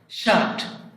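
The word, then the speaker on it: shirt: শার্ট, জামা, শার্ট, জামা। ঠি শেষে থাকলে টা উচ্চারণ হবে, ঠা হবে না।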